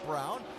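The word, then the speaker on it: Braun: Yes, I know the way it's spelled. He pronounces it Brown.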